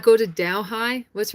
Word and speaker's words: Delhi: The H is silent. Delhi.